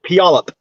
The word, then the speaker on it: Puyallup: next to the, I'm sorry, how do you pronounce that? Puyallup River. I'm not from there. No, Puyallup.